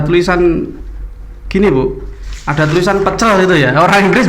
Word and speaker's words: pecel: Di sana itu memang kalau kata itu ada penekanan di awal. Pecel ya. It is not pecel.